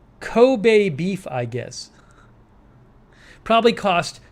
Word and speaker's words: Kobe: Sonic says pronounced Kobe.